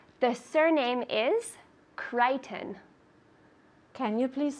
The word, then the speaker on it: Crichton: So the pronunciation is Crichton.